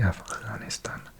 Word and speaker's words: Afghanistan: Okay, Afghanistan, or pronounced properly Afghanistan.